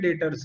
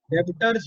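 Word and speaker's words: debtors: और इसको प्रोनाउंस कैसे करते हैं, देखो ये वर्ड में ध्यान दो, इसको पढ़ेंगे क्या, डेप्टर्स। डेबिटर्स। ब का उच्चारण मत करना, बी यहाँ पे साइलेंट होता है, साइलेंट लेटर है। अच्छा। क्या पढ़ेंगे इसको, डेटर्स। डेटर्स। ब का हाँ उच्चारण नहीं करना है, बी को अपने प्रोनाउंस नहीं करते, ठीक है।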